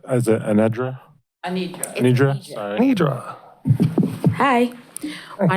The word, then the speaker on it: Anidra: Sorry if I mispronounced it. Is it Anedra? Anedra? Sorry. Nidra. Hi, my name is Anedra.